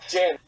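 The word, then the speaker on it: djinn: The D is silent. Frick. Yeah, it's just Jen.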